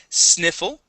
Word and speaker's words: sniffle: all right how about sniffle with a short I sound sniffle sniffle okay instead of sne it is Sni sniffle sniffle all right